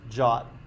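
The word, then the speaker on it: JWT: pronounce that JW keep i didn't invent it pronounce jot jot is a token so these first two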